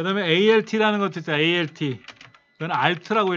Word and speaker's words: Alt: 그 다음에 ALT라는 것도 있어요. ALT. 그건 Alt라고 읽어요.